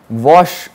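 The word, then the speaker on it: Łoś: okay uh thanks to wash what test okay now you you are reading an L but the pronunciation of this polish Alpha letter is V okay so this is wash what test okay it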